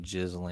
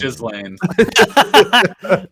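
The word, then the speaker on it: Ghislaine: I what was that I always say her name jizzel I don't know why yeah that's what I well everyone was calling her that forever is that not what it is I think it's Gan Oh I thought it was jlan that's the only way I've ever heard it pronounce so I thought that's legitimately what it was don't worry you had it right the whole time yeah there's don't don't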